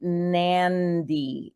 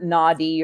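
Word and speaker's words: Nadi: turns in it so in front of a d the letter D in Fijian you pronounce an N so it's actually nandi international airport it's not naughty or naddy it's nandi International Airport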